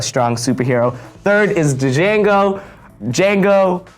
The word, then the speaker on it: Django: Django, the D is silent, my bad.